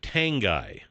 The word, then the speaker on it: Tanguy: Steve Tanguy. I hope I'm pronounced that correctly. Steve Tanguy. Congratulations. How do you spell it? Tanguy, just like Tan Guy.